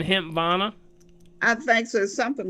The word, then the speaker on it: Hempvana: It's a HEMP like in Paul, VANA. Hempvana. Are you saying Hempvana?